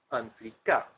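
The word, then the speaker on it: en flicka: And this is EN space FLICKA, pronounced Anflika.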